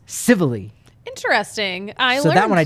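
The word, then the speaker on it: Civale: tie on and then Aaron civilly didn't know until last night because I thought that's Italian it's probably savale queen of baseball reference is pronounced civilly interesting so that one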